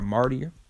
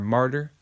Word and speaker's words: martyr: Okay, so if you're part of the elect, whether you're a martyr or a martyr, all right, that's how it's pronounced, Salaki, a martyr, or whether you are